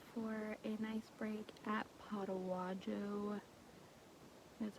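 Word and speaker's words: Potaywadjo: We stopped for a nice break at Potawajo, that's how you say it, Potawajo Spring, and there is a lean-to like 150 yards that way.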